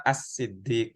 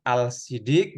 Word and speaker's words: As-Siddiq: Berarti ini Abu Bakar As-Siddiq, jangan Al-Siddiq gitu.